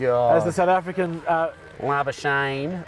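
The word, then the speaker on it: Labuschagne: the south african uh lava shane rhymes with champagne yes that's his wife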